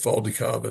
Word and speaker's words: Valdicava: 2005 ficava. That's spelled V A L D I C A V A.